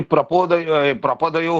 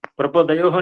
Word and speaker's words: प्रपद: गुरुजी प्रपोदयो हो, ये शब्द को हम ले सकते हैं। एक बार और करिए, उच्चारण करिए। प्रपोदयो नहीं है ना, प्रपोद क्या है? प्रपदो हो, प्रपदो हो, प्रपदो हो।